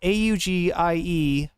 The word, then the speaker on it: Auggie: Auggie and it's spelled a u g i e augie like an augur, right?